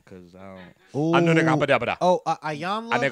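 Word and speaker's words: Iyanla: Oh, Ayanla. Ayanla.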